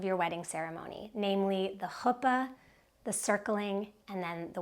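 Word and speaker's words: חופה: wedding ceremony, namely the hoopa, the circling, and then the welcome. Your hoopa or hoopa, hoopa in Hebrew, hoopa in a yiddishized pronunciation of that same word is the wedding canopy.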